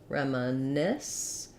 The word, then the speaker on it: reminisce: schwa an ah Rama reminisce last syllable stress and all of these just say the F sound to SCE so thinking